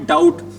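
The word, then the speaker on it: doubt: उस बी की साउंड क्या रहती है बच्चों साइलेंट एक वर्ड और लिख रहा हूं क्या लिख रहा हूं डाउट क्या इसको डाउट बोलते हैं डाउट क्यों बोलते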